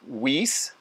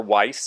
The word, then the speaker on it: Weiss: have happened is because companies like whis or weiss depending on how you like to pronounce that i've heard it both ways although weiss is certainly the germanic way they made pieces for